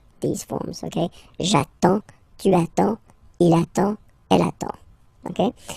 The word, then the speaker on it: attends: You get D and S, well, basically you don't pronounce them, okay? And then you get only the sound attends.